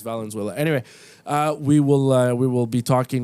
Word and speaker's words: Valenzuela: Okay, you said his name wrong. No, Fernando Venezuela. That's not it. That's Eric definitely Karros. not it. No, those guys. Yeah, Eric Karros. That's how you say his name, but I'm pretty sure it's Valenzuela.